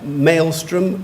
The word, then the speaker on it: maelstrom: you and number 13 you have two pronunciations you can have Maelstrom or mop mile strim maelstrom or Maelstrom a